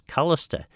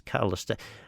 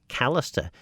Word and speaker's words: Collister: Rob Collister's name as Collister? Always been curious. Because it is Collister, I suppose. I'm curious as to why people pronounce it as Callister, because it's always been Collister.